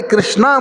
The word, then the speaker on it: कृष्ण: भाई जिसको प्रोनाउंसिएशन अच्छा हो करे, कृष्ण ही बोले। जो कृष्णा भी कर रहा है उसको भी पता है, भगवान को पता है।